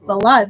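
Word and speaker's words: Valotte: Julian Lennon's, I never say it right, is it Valot? A lot, yeah. Valot, thank you, $19.99.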